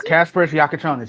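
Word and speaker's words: Kasparas Jakučionis: The Milwaukee Bucks are trading dating Tyler Herro, Khil Wear, Jame Hakez, uh Casper Jaconis, I think that's how you pronounce Casper Yakonis.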